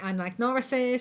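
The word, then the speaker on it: anagnorisis: Um, some people say anagnoris, some people say nagaris.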